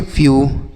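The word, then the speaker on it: few: blue समझ में आया तो अगर ई के बाद डब्ल्यू रहेगा तो इसका उच्चारण यू के रूप में होगा किसका ई डब्ल्यू का उच्चारण यू हो जाएगा ठीक है तो इसे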